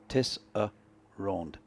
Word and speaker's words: Tesserand: Mine has 3 syllables. Tesserand.